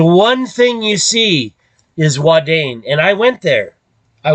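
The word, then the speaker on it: Ouadane: thing you see is wadane and I went there I went there but it's not spelled like that you gotta add an e on the end okay and then it's spelled o-u-a-d-a-n-e okay now that's a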